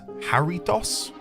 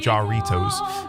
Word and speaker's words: Jarritos: The soda we're talking about is a Doritos, which I believe you pronounce as Haritos. You guys kept getting on at me for saying Jarritos. Um, yeah, there's a shop